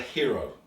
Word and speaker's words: giro: anti-clockwise doesn't matter which this is known as a hero it's spelt g-i-r-o so like gyroscopes you know it's that kind of root so it's all to